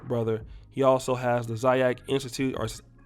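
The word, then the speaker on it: Xyax: he also has the zayak institute our x y a x is pronounced zayak um in brooklyn but he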